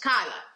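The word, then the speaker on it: Keilah: by the name of kyla and you see it in your bible is probably spelled k e i l a h pronounced kyla so the philistines decide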